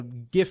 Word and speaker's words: GIF: It's pronounced GIF, like the peanut butter, but like you might as well be calling Pete the N-word over here.